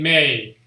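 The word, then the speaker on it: मैं: So the N is actually not fully sounded. So you say may.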